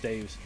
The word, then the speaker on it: D3us: And while you guys are predicting, I see D3us, I know it's pronounced Dave's, with a $5 New Zealand dollar, I think that's New Zealand dollars, super chat.